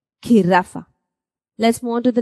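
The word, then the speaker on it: jirafa: Giraffa. It's not giraffe. Okay? There's no pronunciation of J whatsoever. You're going to say, you're going to associate it with the k sound when you put K and H together. Giraffa.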